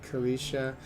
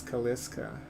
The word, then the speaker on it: Kalisha: with Audema and then Kalisha. So I always thought that the way you pronounce her name was Kaliska.